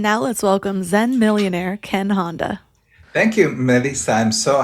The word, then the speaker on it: Ken Honda: And now let's welcome Zen millionaire Ken Honda. Thank you, Melissa. I'm so happy to be here. I practiced your name a few times. I hope I said it right. Oh, yeah, it was perfect.